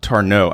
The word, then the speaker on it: Tarnow: Tarnow.